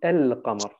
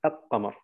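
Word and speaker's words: القمر: Und Qamar, Mond, sagt man El-Qamar. Man sagt nicht Al-Qamar.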